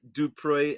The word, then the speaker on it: du Preez: And by the way, you pronounce my name the way we do back in my home country, South Africa. But for the Americans, we say do pray as in please do pray for me.